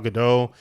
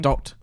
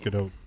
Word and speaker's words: Gadot: recently now with Gal Gadot and Ben Affleck actually also I thought tweeting. it was Godot. No, I think it's Gadot. I think it's Gal Gadot. It's not Godot.